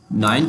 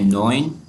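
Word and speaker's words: neun: कहते हैं आफ्त एट को कहते हैं हफ्त नाइन को कहते हैं नोइन नोइन और 10 को कहते हैं ज़हन अच्छा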